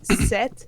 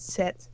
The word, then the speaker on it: sept: then it's set. So you don't pronounce the P. It's just set.